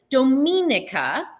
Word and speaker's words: Dominica: I always say it wrong. I always second guess myself, but it's Dominica is is is the is what it's called.